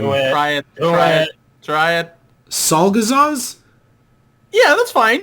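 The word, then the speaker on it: Czolgosz: Salgazaz? Yeah, that's fine. It's a Polish name. It's Czolgozz. Yeah, the way you pronounced it, Salzagos, makes it sound like Yog Sothoth or Cthulhu's dad.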